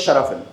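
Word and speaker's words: xerafim: So yeah and uh the pronunciation of that word is sharafil.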